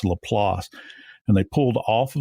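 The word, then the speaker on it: LaPlace: in a place called Lelass. And people that are not from South Louisiana, many times they'll call it La Place. And that's the way it's spelled, but it's Lelass.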